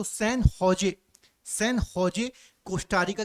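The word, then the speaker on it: San José: की कैपिटल क्या है सन होजे सन जॉय नहीं पढ़ेंगे सन होजे इसको प्रोना प्रोनाउंस करते हैं और पनामा की कैपिटल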